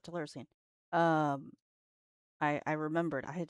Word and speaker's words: Telluricene: Am I pronouncing it right? Yes. No, that is how you pronounce it. Telluricene.